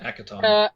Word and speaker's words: Akiton: How do you pronounce that name? I can. Hackathon. Akiton.